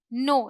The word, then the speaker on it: know: के ओ डब्ल्यू। वैसे तो यहां पर के है लेकिन इसे प्रोनाउंस करते हैं नो। यानी कि के हमारा जो है यह साइलेंट होता है।